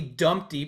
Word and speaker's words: Dumpty: AKA AKA Dumpty pronounced with the umpty and I am so